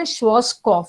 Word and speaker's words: Schwarzkopf: parlor, what's called a Schwarzkopf. Okay, the spelling itself is Schwarz and PF. Okay, so this is how it is pronounced.